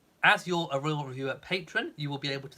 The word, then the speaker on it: Patreon: the brand of Patreon, I've only ever heard Americans in their videos, in their YouTube videos, calling it Patron.